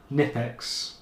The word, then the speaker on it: Knipex: This one like I said is the uh oh blue light turner drop the K nipex.